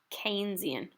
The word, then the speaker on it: Keynesian: One is classical and the other is Keynesian. This word is pronounced Keynesian, all right?